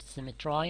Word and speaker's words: symmetry: could frame thy fearful symmetry some people pronounce it symmetry in order to have the same sound as I to summarize these four